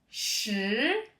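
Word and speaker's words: 十: en chinois on dit avec le deuxè ton qui monte che et pour retenir ce chiffre, vous voyez penser au mot cheval.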